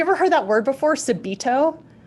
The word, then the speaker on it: subito: heard that word before subido yeah it's spelled s you be IT o and what that means